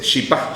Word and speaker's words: chipá: Pero lo que hay que recordar es que no se dice chipa, se dice chipá. Chipá. La pronunciación correcta es Chipá Barrero. Chipá Barrero. Entonces la gente dice chipa. No, chipa más está hacia el lado argentino.